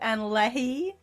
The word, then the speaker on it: Annalie: Yeah, we pronounce it Anna Leahy.